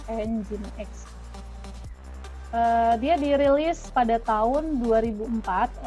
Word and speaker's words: Nginx: Jadi jangan salah baca, jangan dibaca Nging, ini bacanya adalah Nginx.